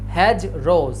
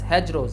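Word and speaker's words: hedgerows: দেখতে পাই ওটাকেই বোঝা হচ্ছে হ্যাজ রোজ এটার উচ্চারণ কি হবে হ্যাজ রোজ হ্যাজ রোজ হ্যাজ রোজ ঠিক আছে হ্যাজ রো মানে হচ্ছে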